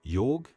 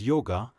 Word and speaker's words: yog: specially mentioned about the science of yog erroneously pronounced as yoga adopted by the people